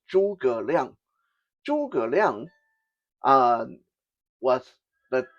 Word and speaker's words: Zhuge Liang: I know in English it often looks like Zhuge Liang, but that's not how it's supposed to be pronounced. Okay, to pronounce it properly is Zhuge Liang.